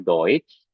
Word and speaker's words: Deutsch: Karena tadi kan kalau E bertemu SCH kan dibacakannya Sh. Nah, tapi di sini dia tidak dibaca Sh lagi, tapi jadinya eh Sh ya, hampir mirip Sh juga ya. Tapi Sh gitu ya. Nah, ini dibacanya Deutsch.